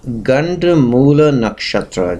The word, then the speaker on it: Ganda Moola nakshatra: And this topic is on Ganda Moola nakshatra. Just look at the screen and try to pronounce it.